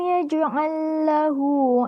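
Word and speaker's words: يجعل له: Cara membacanya, huruf pertama ini diidghamkan pada huruf kedua. Yaj'allahu.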